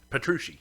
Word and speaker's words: Petrucci: Theater uh John how do you say patrons Petrucci yeah yeah uh but then you got people